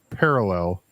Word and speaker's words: parallel: But yes, parallel. The emphasis is on the first syllable Thank you. and not the third syllable.